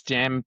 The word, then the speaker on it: Jam: uh how to pronounce is it Yam or Jam? Uh, just Jam.